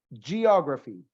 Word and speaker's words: geography: Geography. Recuérdese de Nat Geo, de National Geographic. Siempre esa G va a sonar como una Y. Geo.